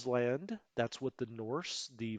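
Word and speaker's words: Ísland: it's called island now i just said island because it's spelled just like ireland right except for the uh the little tilde up there but it's actually island that's what the norse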